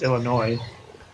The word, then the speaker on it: Illinois: Illinois, I should say. It's not noise. It's Illinois. This S is silent.